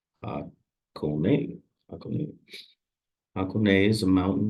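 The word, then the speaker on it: Hakone: On day four, travelers head to Hakon, pronounced Hakon.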